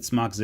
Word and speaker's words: Smach Z: I pronounce it Smach Z. It's supposed to be Steam Machine Z. It's made in Europe, so I'm going to go ahead and call it Z just out of respect.